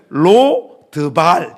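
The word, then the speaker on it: לֹא דְבָר: 로드발. 로드발. 여러분이 로드발은 히브리어예요. 그래서 여러분들이 알 수가 없죠. 원래 발음을 제대로 하자면 로더발 이렇게 됩니다.로는 히브리어 부정 접두어 영어로 치면 not 내버 뭐 이런 정도의 뜻이에요.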